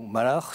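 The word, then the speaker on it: מלאך: Jésus-Christ puisque le le terme hébraïque malac ou Malar si on veut prononcer à l'hébreu euh est un terme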